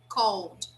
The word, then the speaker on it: called: as i said before we never pronounce this vowel so here the pronunciation is cold cold okay yes very